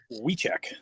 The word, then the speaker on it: Wiczek: And is the correct pronunciation Wiczek? Wiczek? Wiczek.